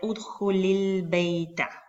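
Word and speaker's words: ادْخُلِ الْبَيْتَ: Entonces, cuando esto sucede, esta hamzatul wasal no se pronuncia.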